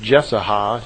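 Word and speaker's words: Jesaja: through the prophet uh i believe it's pronounced jessica j-e-s-a-j-a those of you who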